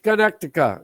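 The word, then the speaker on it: Karnataka: Is that how you pronounce it? Carnatica? Carnatica.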